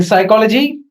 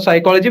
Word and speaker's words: psychology: In the phonetical transcription of psychology, we don't have P.